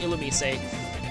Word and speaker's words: Illumise: And yes, obligatory mention of the fact that it is pronounced Illumise, which makes sense to me because it's based on the Japanese.